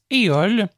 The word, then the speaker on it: EOL: Ce mois-ci, sachant que nous parlons de livres parlés, nous souhaitons vous présenter la possibilité d'ajouter le service EOL, qui est une librairie française, ça s'écrit E-O-L-E, directement sur vos appareils Humanware.